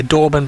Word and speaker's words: Dorban: I mentioned Hasker Dorban before. His mum actually commented in Wilbur and said we were just slightly mispronouncing his name. So Dorban it is.